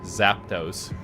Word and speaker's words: Zapdos: Zapdos.